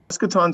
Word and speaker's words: Eschaton: Eschaton Solutions, and it's, a lot of people get the pronunciation wrong, it's eschaton, and it denotes a decisive time to act.